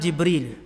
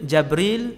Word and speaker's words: Jibril: Malaikat Jibril jawab, ana Jibril. Jibril, Jabril, Jibrail, Jibrail. 4 cara baca. Semua sahih.